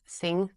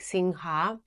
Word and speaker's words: Singha: Thailand it's pronounced as Singh so when I like when I used to come to Thailand to travel I always would say like singha but then I heard Thai people say sing so now I just